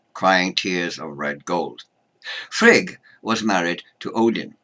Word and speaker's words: Frigg: pantheon Freya and shriek the latter often called Frigga but that that isn't correct there's no a on the end just as there's no a on vowel and there is no a on the end of the goddess hel name she's hell not hello